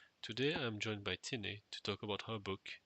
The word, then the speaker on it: Tinnei: So today I'm joined by Tinnei. Is that how you pronounce it? Am I pronouncing it right? Yes, Tinnei.